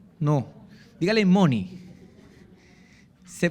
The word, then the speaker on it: money: Dígale que está a su lado, Money, no mono, no. Dígale Money. Se pronuncia Money.